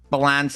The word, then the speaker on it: Balance: Balance? Is that how you say it? Balance? Did I get it right? Yeah, yes, sir. Balance.